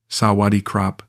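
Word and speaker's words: สวัสดีครับ: She taught me basic Thai phrases, correcting my pronunciation with patience I didn't deserve. "Sawadi krap."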